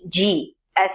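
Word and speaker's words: ဂ: same as an english g as in glue in burmese wool is called gong fourth letter is kaji pronounced exactly the same as the previous one ga here comes an example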